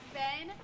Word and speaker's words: Bean: Your Honorable Judge Bean presiding. That's Ben. My name is pronounced Ben as in pen, not bean as in bean.